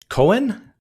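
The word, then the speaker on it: Koen: Well, correct pronunciation is. But I learned that is not a nice word in English. So maybe you better pronounce it Cohen.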